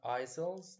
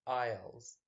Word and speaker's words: aisles: have the word aisles it's not isil's the S is silent so it's aisles aisles are the passages between